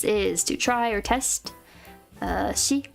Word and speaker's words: 試: Shi, kokoromiru, tamesu.